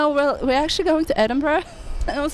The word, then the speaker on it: Edinburgh: I'm not pronouncing it. It's Edinburgh. Edinburgh.